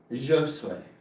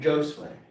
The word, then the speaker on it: Josue: And by the way, his name is pronounced as Josue. Josue. Yeah. Josue.